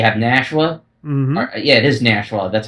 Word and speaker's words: Nashua: Nashua yeah it is NASA that's how you correctly pronounce it we got that I said nsha and they said no it's Nash n Nash like Nashville Tennessee and like a [